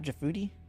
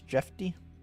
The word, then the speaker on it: Jeffy: It's not Jafoodi. It's Jeffy.